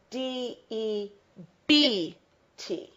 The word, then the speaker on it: debt: is pronounced d but it's spelled D E BT so we pronounce it debt okay to be in